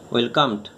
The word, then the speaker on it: welcomed: শুধুমাত্র ডি যোগ হচ্ছে, ওয়েলকামড। আর উচ্চারণটা কি হচ্ছে ট, ওয়েলকামড। আর ওয়েলকামড WELCOMED, কিন্তু উচ্চারণ কি হচ্ছে না ওয়েলকামড, ওয়েলকামড, ওয়েলকামড, ওয়েলকামড, ট উচ্চারণ হচ্ছে।